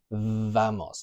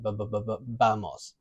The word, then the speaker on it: vamos: So if I say, let's go, vamos, I'm not going to say vamos. I'm going to say vamos. It's with a B. So our lips are coming together, vamos.